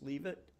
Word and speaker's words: Leavitt: And one of her peers was, am I pronouncing it correct? Her last name was Leavitt, Henrietta Leavitt.